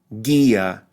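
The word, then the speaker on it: guía: Isla imno PA AI Gia note the silent U Gia Aki another silent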